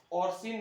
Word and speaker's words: orcein: और इसमें क्या है आपका कि एक लाइकेन है आपका ऑर्सिन नामक लाइकेन। क्या बोला है? ऑर्सिन नामक लाइकेन। इसका स्पेलिंग है ORCEIN।